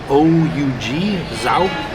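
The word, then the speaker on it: zhoug: So I'm sorry if I'm pronouncing this next one wrong. Spilled it all over the place. It's Zaug, Z-H-O-U-G, Zaug.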